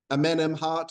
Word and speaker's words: Amenemhat: remember this yeah so I've heard it pronounced Eminem hot or something like that I call them Eminem hat you know so that's